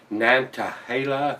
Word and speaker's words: Nantahala: get these boys there at uh nantahala that's how it's pronounced to uh date herself